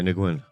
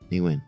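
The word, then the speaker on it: Nguyen: Nigwin. Nigwin. Yeah. Oh, that's how they said. Nigwin.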